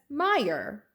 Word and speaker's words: Meyer: Mayer it will be easy to remember my name cuz Meyer rhymes with fire and now we have